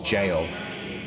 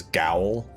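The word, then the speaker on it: gaol: This word here, jail. G A O L, like the medieval spelling of jail. I always pronounced this gowl. I I'd never heard it said out loud before until playing Elder Ring. And in Elden Ring, there's jails, like dungeons, and one of the characters was like, "Jail," and I was like, "Oh my god, it's just jail."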